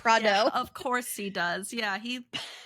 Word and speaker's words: Prado: Like I think he says Prada on purpose instead of yeah. Prado.